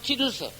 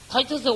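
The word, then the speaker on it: Titus: 그러다가 그 성전이 예수님 성천하시고 난 뒤에 41년 뒤인 AD 70년에 로마 장군 티투스, 다른 발음으로는 타이터스가 와가지고 이 성전을 세 번째로 또 파괴시켰어.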